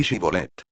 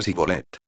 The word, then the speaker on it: Shibolet: Si él respondía no, entonces le decían: ahora, pues, di Shibolet. Y él decía Sibolet. Porque no podía pronunciarlo correctamente.